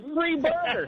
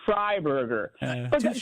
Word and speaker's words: Fryburger: My last name is Fryburger, but most people pronounce my name state. Well, they say free burger. They when they when they meet me, they say free burger, and I tell them, "No, it's Fryburger."